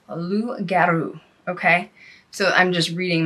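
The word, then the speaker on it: loup-garou: name to the rugaru in French it is pronounced luu okay so I'm just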